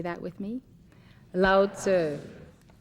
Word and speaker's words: Lao Tzu: say that with me loud sir in the transliteration from Chinese to English the you answer was meant to be a short you so it's loud sir and not loud sue in Taoism the Dao